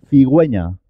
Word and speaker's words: cigüeña: cigüeña pingüino pingüino guerra nos lleva a diéresis cigüeña con día decir guitarra no lleva diéresis pingüino